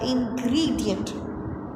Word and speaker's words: ingredient: Ingredient. again noun, and we have to put stress on the first one.